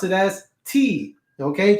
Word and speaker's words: ti: T-I's, you pronounce it as T. Okay. Just like M-I was me, T-I is T.